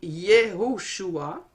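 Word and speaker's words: יהושע: Et si vous remarquez, vous avez le mot ou le nom Josué, qui se dit en hébreu Yehoshua, et on le met en parallèle avec le nom de Jésus, qui se dit Yeshua.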